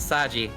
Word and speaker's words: Saji: I can see how he arrived at this reading, but it is incorrect because they say his name in the show quite clearly as Saji.